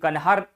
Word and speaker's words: कनहर: जानते हैं और यह कन्हार कनहर नदी पे बनाया गया। हम कन्हहर बोलते हैं। वैसे सही उच्चारण इसका होना चाहिए। कनहर बांध कनहर बांध और यह कनहर बांध जो है यह किस नदी पर है?